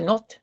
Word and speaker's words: något: Si se dan cuenta, ella dice así, la pronunciación. Yo säger ingenting eftersom jag inte vet något. ¿Por qué dice not? Porque es not, esa es una de